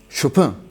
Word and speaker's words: Chopin: It's not Chopin , Hsiaobang Ravel, not ,laweier Bach, not Baha so you have to pronounce it clearly.